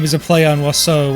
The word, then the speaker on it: oiseau: So the first half of that name is a play on oiseau, which is the French word for bird. Yes, it's pronounced like that, even though none of the letters should be pronounced like that.